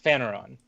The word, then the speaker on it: Phaneron: So you're also in Phaneron. That's the right way to pronounce that, right? Yes, Phaneron.